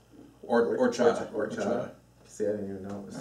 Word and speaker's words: horchata: So the H is silent in Spanish. Horchata.